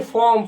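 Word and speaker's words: form: Roster फॉर्म फॉर्म, फॉर्म नहीं फॉर्म, फॉर्म are silent हो जाता है, ठीक। जैसे कैसे बोलते हैं, ये हॉनेस्ट नहीं है बल्कि ऑनेस्ट है, ऑनेस्ट उसी तरह से फॉर्म मतलब बोला जाता है, फॉर्म नहीं।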